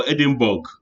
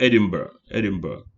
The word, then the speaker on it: Edinburgh: They go Edinburgh. Bug go bite you. No, it's not Edinburgh, but Edinburgh.